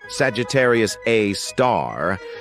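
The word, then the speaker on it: Sagittarius A*: an exception we've got Sagittarius A which is pronounced Sagittarius A star this space monster is mostly dormant and rarely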